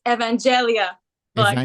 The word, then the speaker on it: Evangelia Blackhart: It's only the pronunciation is Evangelia Blackhart.